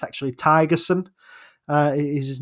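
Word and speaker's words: Thygesen: been told it's actually tigerson uh is his name the the H in it is uh is silent um he is from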